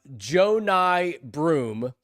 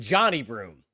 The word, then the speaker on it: Johni Broome: uh Joe Ny Broom. And I still write it phonetically because I before they drafted them last night, I would have I would have said Johnny Broom, you know, like a